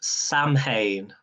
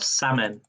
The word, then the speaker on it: Samhain: okay the correct answer i don't know how to pronounce it is samhain or salmon salmon not salmon this is someone everybody in the chat